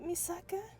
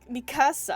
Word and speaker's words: Mikasa: voice anywhere so distinct is it not misaka did I say it wrong me oh M Mikasa I'm sorry my bad I seem to swa the places of the S and K no need to be